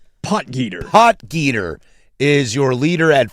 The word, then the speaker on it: Potgieter: Polgeider, is that how you say his name, Casey? Potgieter.